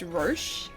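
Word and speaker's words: Roche: I think it's technically pronounced Ro. Roach is the Yeah, Roach is the horse, but like Ro, R O C H E, which also kind of sounds like Roach, is a military leader.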